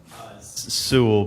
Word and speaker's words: Sewell: Is it Sewell or Sewell? Sewell, but it's spelled Sewell.